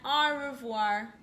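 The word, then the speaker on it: au revoir: friends i'm war you say it like that our revoir that's french for goodbye on my door i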